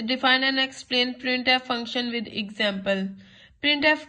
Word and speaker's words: printf: The function प्रिंट एफ is pronounce as सी प्रिंट एफ।